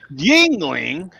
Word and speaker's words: Yuengling: remain independent right but yingling is coming west kids hey west coast beer lovers it's pronounced ying ling america's oldest movie is